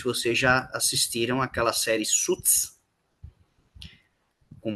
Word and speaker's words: Suits: Alguns pronunciam errado, falam sweets, mas sweets é doce. Tá? A pronúncia é suits. Você não pronuncia o i, é suits.